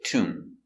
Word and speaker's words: tomb: doing very good example tomb remember no be no tomb just tomb The Mummy is in